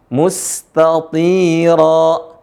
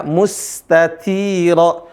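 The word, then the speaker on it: مستطيرا: Nah, di sini mustatira. Sebagian teman-teman bacanya mustatira, mustati. Nggak ada bedanya ta sama ta. Yang benar adalah mustatira.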